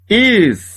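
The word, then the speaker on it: ישראל: Como eu tenho a primeira sílaba, que tem duas consoantes e uma vogal, o shevá está apenas fechando a sílaba. Ele não é pronunciado. Repara aqui, olha. Fica Israel. Israel.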